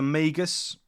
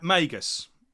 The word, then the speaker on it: Magus: I pronounced that right is it Dr migas or Dr neas I'm have to quickly look that up something's telling me I got that wrong um yeah M Magus that is it I pronounced it wrong Dr Magus now a lot of